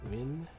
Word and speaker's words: Nguyen: You pronounce it like Wynn Hotel. So Trin Win Nin.